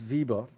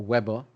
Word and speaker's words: Weber: Now, Max Vieber or Weber, depending upon how you want to pronounce it, but Max Vieber was